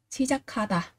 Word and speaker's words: 시작하다: Và chúng ta cũng có cờ gặp với hờ, thì ở đây cờ sẽ được đọc thành là khờ, và đọc là gì? 시작하다, bắt đầu.